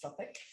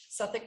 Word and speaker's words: Southwark: cathedral it looks like southwark it is actually pronounced suffolk suffolk cathedral um if you saw the picture of